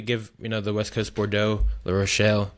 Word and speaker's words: La Rochelle: Yeah, I mean, if you're ever in France, definitely give the West Coast Bordeaux, La Rochelle. I didn't pronounce that right, but you know, No, you did a give great job.